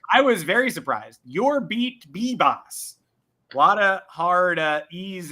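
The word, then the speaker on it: Yorbit Vivas: And I read the Yankees official pronunciation guide over the weekend that came with the spring training leaflet, and it's Bibas. 2 B's.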